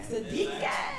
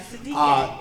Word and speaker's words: Siddiquee: Siddiquee.